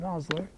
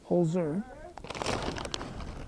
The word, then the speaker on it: Holzer: No, it's not Hosler, like the Jay-Z ones. It's Holzer. That's off the glove. It's off the glove. He made the play just in case he had the glove. So it's spelled Holzer, not Hosler, like the Jay-Z people spells H-O-Z-L. This is H-O-L-Z.